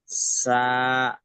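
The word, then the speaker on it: ثاء: দাঁতের উপর থেকে, সামনে দুটো দাঁতের দাঁতের আগা উপর, এবং দা- জিভ দাঁতের উপর, জিভের আগা দিয়ে, আর এবং সামনে দুটো হ্যাঁ, দাঁতের আগা জিভ, দিয়ে উচ্চারণ করতে হয় সা।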